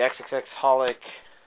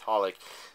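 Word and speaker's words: xxxHolic: the movie um the XXX holic oh wait it's just pronounced holic the holic subasa chronicle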